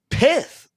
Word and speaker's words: Pyth: Is it Pith? Is it Pyth? This is a hot debatable topic. We're going to say Pith because I want to. It's whatever pronunciation gets more saliva on the person you're talking to. So Pith or Pyth.